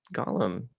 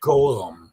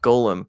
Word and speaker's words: Golem: I need to reach out to TJ because he was talking about what kind of uh Gollum I'm saying it wrong, aren't I? Golem. Golem.